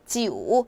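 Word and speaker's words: 九: 중요하다는 이유를 여러분들께 알려 드릴 거예요 자 구는 지우 하시면 되세요 자 지우 같은 경우는 뱀이랑 좀 비슷하네요 지우 기억해 주시고 마지막으로 10 같은 경우는 두 가지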